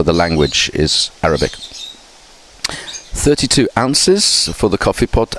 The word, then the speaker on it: oz: 32 ounces for the coffee pot. Ounces again is very old style of measurement, but yeah, people do still use that, and it's often written OZ but pronounced ounce or ounces.